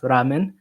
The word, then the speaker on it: ramen: And in Japanese is pronounced ramen.